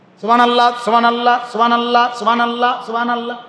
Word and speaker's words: সুবহানাল্লাহ: সুবহানাল্লাহ, সুবহানাল্লাহ, সুবহানাল্লাহ, হা কই? কথা বলেন। আর এটা বুঝি সুবহানাল্লাহ, সুবহানাল্লাহ, হা এটা কই? সুবহানাল্লাহ, তো হা এটা উচ্চারণ হবে মোটা।